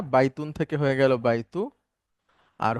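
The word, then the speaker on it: بيتي: মূলত শব্দটা হচ্ছে বাইতু ই, কিন্তু এভাবে ব্যবহার হয় না, হয় হচ্ছে বাইতি, মানে হলো আমার বাড়ি।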